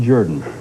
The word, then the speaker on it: Jordan: to the idea that it's spelled Jordan but pronounced Jordan cambod Elanor Cliff thanks very much question what